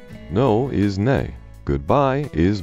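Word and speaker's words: nei: or daughter daughter 13 hello and Icelandic is pronounced Hollow thank you is talk yes is yah no is nay goodbye is bless 14 the most common men's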